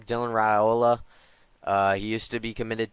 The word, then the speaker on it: Raiola: Dylan Raiola.